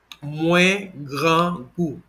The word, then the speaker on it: Mwen grangou: The first pronunciation here, we're looking at this one here, it is the full pronunciation. It would be Mwen grangou. I repeat, Mwen grangou. One more time, Mwen grangou.